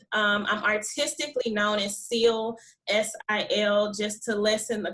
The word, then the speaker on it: Sil: is casilia um i'm artistically known as seal s-i-l just to lessen the complication and pronunciation i am a seventh grade english teacher